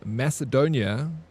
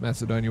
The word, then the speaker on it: Macedonia: And then he said like, oh, you'll hear I pronounce Macedonia with a hard C, and that's because that's how it was first pronounced.